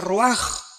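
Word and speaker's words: רוח: Se pronuncia roaj. Por ejemplo, cuando hablamos del Espíritu Santo, el Espíritu Santo es roaj, el cadosh.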